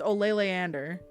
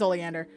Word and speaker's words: Oleander: I just realized I was been reading his name wrong the whole time. It's Ole Leander, obviously. Oh, no. It is Oleander. It is Oleander. Okay. I'm like, have I been reading it wrong? No, I have not.